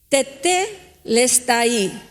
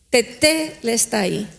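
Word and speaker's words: τετέλεσται: de la siguiente manera, se escribe y se pronuncia de la siguiente manera: tetelestai, tetelestai.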